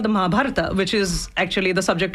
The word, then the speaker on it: Mahabharata: And pronounce that again for us one more time. Mahabharata. Mahabharata.